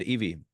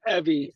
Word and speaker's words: Evie: themselves uh go ahead Eevee if I'm pronouncing your name right sorry oh it's uh Evie but that's okay um